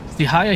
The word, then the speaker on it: Sihaya: Is it, Chihaja? Can you, like, do a pronunciation of your name? Because I appreciate your facts, because I was gonna bring it up. Sihaya, okay. Sihaya here is correct.